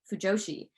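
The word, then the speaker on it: 腐女子: So while it's pronounced the same way, fujoshi, the first kanji has a very different meaning.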